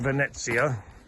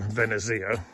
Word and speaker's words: Venezia: interested in uh Sunbeam venetsia I used to call it Venezia and then I was corrected by someone who spoke